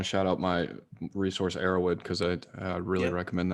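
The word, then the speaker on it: Erowid: humans and psychoactives and arrowwood is spelled just like it sounds e-r-o-w-id dot org okay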